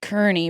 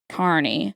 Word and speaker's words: Kearney: r n e y so people a lot of people say Kerney but it's Carney yeah and that's the